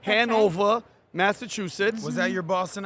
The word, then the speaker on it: Hanover: Our first guest, she's originally from Hanover. I said it right? Yeah, that's right. That's Hanover, Massachusetts.